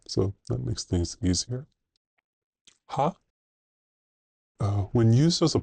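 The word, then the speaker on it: は: Ha. Uh when used as a particle, this is one of the few characters that has another pronunciation. And as a particle, it is pronounced as wa.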